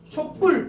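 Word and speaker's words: 촛불: 그럼 저 발음하면 어떻게 돼? 촉불, 뿔 발음이 나잖아.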